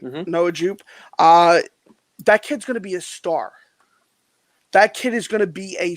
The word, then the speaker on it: Noah Jupe: You know, it's Noah Jupe, right? I'm saying it right. Mhm. Noah Jupe.